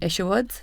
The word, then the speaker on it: Isherwood: So today we've got Robyn Isherwood. Is that the right pronunciation?